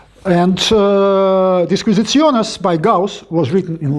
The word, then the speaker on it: Disquisitiones: and of course it's Disquisitiones. I'm not trying to pronounce it in correct Latin, I'm pronouncing it in the medieval Latin, Arithmetica.